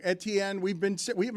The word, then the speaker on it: Etienne: We've all been saying his name wrong. Etienne, we've been We have not been calling him Achan.